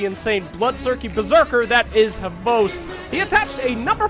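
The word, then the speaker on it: XBOCT: Xbox, which is somehow pronounced Host, or as I like to call him, Xbox, has been the founding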